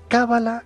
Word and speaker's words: cábala: es cábala con el acento en la primera vocal cábala o cábala a ver el término